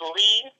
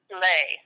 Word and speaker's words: Leigh: middle name, too, because it's Lee, spelled Leigh, and in California they seem to get it, but in other states they pronounce it Lay. So I'm like, no, it's not Lay. It's Lee. It really is Lee.